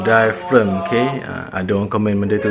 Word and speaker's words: diaphragm: Diaphragm, pronounce yang betul ialah diaphragm, okay?